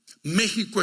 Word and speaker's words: México: México es un país que se pronuncia México, pero se escribe México, porque la X y la J es la misma letra.